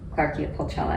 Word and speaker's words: Clarkia pulchella: how do you say that title which is claria Pella so is that a a plant species from